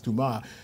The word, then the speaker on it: Dumas: It looks like it's spelled Dumas, but it's Dumas.